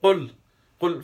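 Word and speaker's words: قل: So you qul from the throat, the qaf, qainchi.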